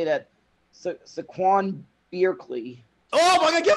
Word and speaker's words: Saquon: all right i i i was told his name is now pronounced saquon so saquon bierkley can you say that though for five points i could say that saquon bierkley oh my god